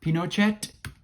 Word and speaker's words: Pinochet: How do you pronounce his name? Pinochet?